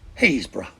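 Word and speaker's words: Happisburgh: tianmouth is tinmouth and habisberg is pronounced hayesboro while we're on the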